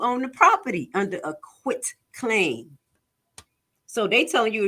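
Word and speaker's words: quitclaim: y'all know my accent I'll be saying quick but it's quit and I remember as quick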